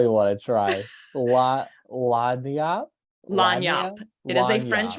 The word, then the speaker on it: lagniappe: And then the 10%, which Nick, since I told you once, can you pronounce that word for me? I don't even want to try. Lagniappe? Lagniappe.